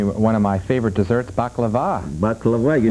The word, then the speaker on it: baklava: And I see one of my favorite desserts, baklava.